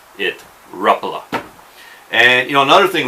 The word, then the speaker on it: Rapala: like me pronounce it Rapala I've also heard Rapala a lot of guys pronounce it Rapala but according to parity it's ruffalo so I think going forward I'm going to